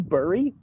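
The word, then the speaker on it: burrow: barry berry you want berry you're hearing my pencil tucky come out here every once in a while i mean i guess that that burry like furry like it rhymes with furry for you hurry i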